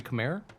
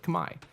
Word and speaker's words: Khmer: they occupied Cambodia while the native pronunciation is actually more like Kamai but the syllables combine